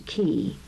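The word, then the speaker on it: cay: word key is spelled see a Y and pronounced two key the keys surrounding an island are named for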